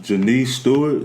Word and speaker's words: Jeniece Stewart: I have Jeniece Stewart.